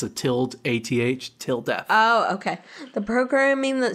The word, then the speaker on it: tilde: known as a th no that's good to pronounce til death it's a tilt a th till death oh okay the programming that Sollux used was known as tilde that functioned entirely on self term paradoxes the